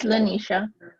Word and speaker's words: Lanisha: i was like yeah am i saying it right is it lying or linisha you're right it's lanisha yeah because you guys